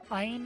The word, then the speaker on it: ein: Ein is pronounced that way in German for 1, and Zwei from its evolution, Zweilous is 2, or Zweilous, while Dry from Hydreigon is 3, all pronounced with the I syllable.